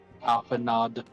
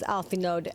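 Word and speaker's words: Alphinaud: Probably are people out there that pronounce his name. Alpha Nod. I mean, I've heard this game. I've heard characters in this game pronounce it as alfo. I think even you know grandpa levor did that actually which is why I started doing it otherwise it's alfo cuz it's like you know French right but even grandpa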